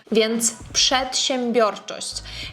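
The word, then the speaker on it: przedsiębiorczość: Пшетщембьчость. Якщо вам складно вимовити, я завжди рекомендую починати з кінця. Наприклад, в нас тут є чощ чо. Далей бьчость. Бьорчость щембрчость. Мбрчстьмбрчость. І тоді буде легко.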